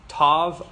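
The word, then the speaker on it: ת: last letter is Tov Tov always makes a tough sound no in the Ashkenazi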